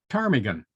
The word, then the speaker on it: ptarmigan: out okay it's spelled p-t-a-r-m-i-g-a-n petarmigan but we don't pronounce it ptarmigan which would be silly we say it carmigan which is also silly